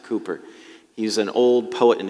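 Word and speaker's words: Cowper: toward jesus william cooper his name looks like it says calper but you pronounce it cooper he's an old poet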